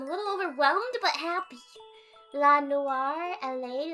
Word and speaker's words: noir: So people say Noor while it's pronounced Noir at the end, while many say the first option.